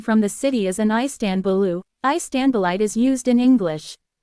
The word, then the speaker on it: Istanbul: dotted and dotless I in English the stress is on the first or last syllable but in Turkish it is on the second syllable a person from the city is an istanbulu istanbulite is used in